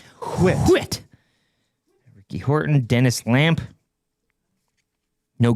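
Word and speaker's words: Whitt: Ernest Ri Peterson Kevin Brown Terry Clark checklist Steve Anton Ernie Wit Toronto Blue Jays it's pronounced wit Ricky Horton Dennis Lamp no Griffy what do you boys got anything of note you're awfully silent.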